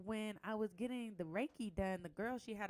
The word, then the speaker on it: reiki: got um rikki reyke reiki is it reiki reiki that's how you say it i got reiki